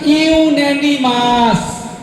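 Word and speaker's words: unanimous: এটার প্রনান্সিয়েশন ইউনিমাস ইউনিমাস ইউনিমাস ডিসিশন যেখানে কোন মতান হয়নি ডিস্টার্ব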